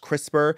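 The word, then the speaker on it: CRISPR: And they use this program called I think it's pronounced crisper.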